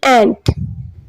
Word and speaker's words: ant: मैंने बहुत लोगों को ANT को भी आंट कहते हुए सुना है। So this is wrong pronunciation. Okay, एंट है, ये चूंटी वाला एंट है।